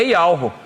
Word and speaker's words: Yahweh: Que o nome, eles botam até aqui, que o nome com os maçoretos, com as vogais corretas para pronunciar, é Yahweh.